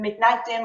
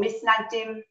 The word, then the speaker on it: Mitnagdim: lot of fighting between the Mitnagdim or Misnagdim, as we pronounce in Ashkenaz Hebrew, between the Misnagdim and the Hasidism.